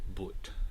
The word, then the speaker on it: but: used today but but in the north of england it's preserved with the original short u vowel so but sounds like boot right and sun sounds